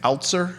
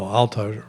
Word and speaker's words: Altiser: Um, Damon Altzer, is that pronouncing his last name? The staff head coach. Oh, Altiser. Altiser.